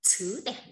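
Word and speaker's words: 字典: Từ đọc là chứ đẻn nhá.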